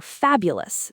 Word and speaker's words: fabulous: nervous or fabulous. The stress is on fab, so the ending is ulsless. Fabulous. The o us part is always weak.